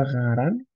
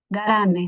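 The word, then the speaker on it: Γαράνη: Παρακαλώ, η κυρία Γαράν, δεν ξέρω αν το προφέρω σωστά. Γκαράνη, ναι.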